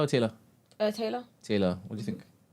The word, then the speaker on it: Taila: is it Tyler or Taylor? Taylor.